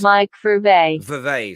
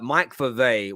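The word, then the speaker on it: Mike Verweij: it through google translate it's pronounced mike for a verve sorry there it is i was i was saying it very differently uh mike fave one of the most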